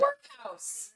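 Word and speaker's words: Werkhowse: And the workhouse. Yes, and the workhouse. Follow the workhouse. Yes. Not spelled like it sounds. W-E-R-K. H-O-W-S-E.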